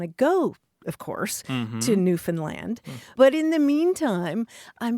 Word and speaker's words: Newfoundland: They say, think of understand and Newfoundland because they get, Gotcha. they're not It's happy. not Newfoundland.